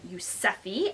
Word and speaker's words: Yuzefi: this bag is from a designer brand called yusefi uh so this is the dust bag but